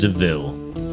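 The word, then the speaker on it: de Vil: It's spelled devil, but it's pronounced DeVille. She's Cruella DeVille.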